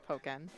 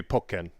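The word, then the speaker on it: Pokkén: the pokemon tekken thing i always assumed pokken well yeah it would be pokken because you have the double k there there we go i'm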